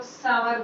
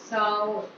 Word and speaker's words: sour: Next word आपका आता है SOUR, इसे बहुत से लोग सावर बोलते हैं, बहुत से लोग सौर बोलते हैं, लेकिन करेक्ट प्रोनाउंसिएशन है आपका साउर, साउर, साउर, साउर, ठीक है।